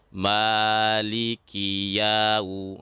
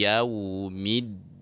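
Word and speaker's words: يوم الدين: Di bacaan yaumi, nah pada saat ini jangan seperti ada menyeret dalam membaca waw yang sukun. Contoh, maliki yau. Nah, jadi jangan sampai menyeret, ya-nya terpanjangkan sedikit dalam kemudian bertemu dengan waw sukun ya. Maliki yau. Nah, ini bacaan yang tidak benar. Jadi bacaan yang benarnya adalah Maliki yaumiddin.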